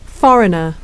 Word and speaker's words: foreigner: 영국식은 Foreigner, foreigner. 자, foreigner 할 때 이 소리가 강하지가 않죠. 강세가 앞에 있기 때문에 이가 약화돼서 그런 겁니다.